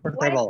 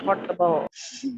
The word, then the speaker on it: comfortable: Jadi for-nya itu nggak ada.